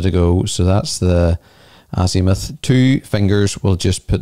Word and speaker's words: azimuth: to see how to pronounce it and it's pronounced azimuth and what is azimuth well it's better to